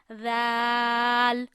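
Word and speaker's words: ذ: Zal, very softly. Zal, two zabar zan. Zal, two zir zin. Drop your voice, zin. Zal, two pesh zun. Zan, zin, zun. Very easy. Read sa and zal very soft tone without hard tone.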